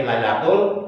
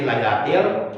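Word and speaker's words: لَيْلَةِ: Inna anzalnahu fi lailatul qadar, itu salah. Seharusnya kan fi lailatil, seharusnya til kan, bukan tul kan?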